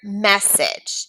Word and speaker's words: message: of these words for example the word message it has the vowel consonant e but do you hear the a sound message no we don't also